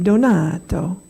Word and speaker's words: Donato: My name is Reverend Donato. That's the only way you can say that name. Otherwise, I'm a donut.